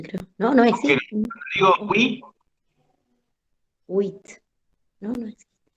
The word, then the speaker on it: oui: Cuando decimos sí, oui, también se pronuncia la U y la I. Oui.